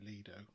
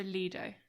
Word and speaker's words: Lido: All the dictionaries say Lido. Oh, okay. And the Italians, from the words Latin-based, is also Lido. So there will be a few that pronounce it Lido, and they're wrong, categorically. Okay, so Lido.